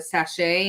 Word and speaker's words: sachet: And it's Encore is the Encore rosewater with it as a sachet and the around it. It's is that how you say it, sachet?